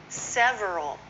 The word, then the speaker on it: several: Several is often several.